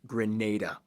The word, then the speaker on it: Grenada: hey everybody i'm your host barby greece it's pronounced grenada just for the record people yes mayans still